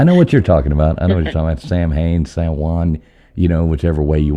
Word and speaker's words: Samhain: Happy Samhain, Samhain, however you want to pronounce it. I know the Muggles call it Samhain, so I figured I'd say it that way. But it's actually pronounced Samhain.